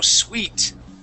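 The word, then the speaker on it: suite: hotel room okay yep pronounced just like sweet like sugar okay it's it's a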